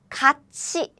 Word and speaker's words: 같이: This one is about the palatalization.